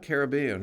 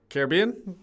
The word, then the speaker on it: Caribbean: Yeah, we have the Pirates of the Caribbean. That's what's frequently said, but it's actually Pirates of the Caribbean because the Caribbean pronunciation is the noun and the name of the sea, and Caribbean is the adjective.